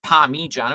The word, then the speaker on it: Parmigiano: I mean, it's pronounced Parmigiano with an I, and it's spelled with an I.